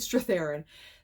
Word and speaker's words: Strathairn: So Andy McDowell and David Strathairn, did I say his name correctly? Yeah, David Strathairn.